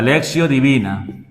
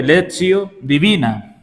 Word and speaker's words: lectio divina: La lexio divina se escribe lectio, pero como está en latín la t se lee como se leio divina y significa lectura orante de la palabra de Dios.